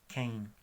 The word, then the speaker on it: quem: Pero cuando es QUE es que solamente. No es qu, sino que. QUI sería qui, como en español. Entonces QUA, QUO es diferente, quo, qua, pero QUE, QUI es simplemente que, qui, como en español. La palabra de quién es quem. Quem.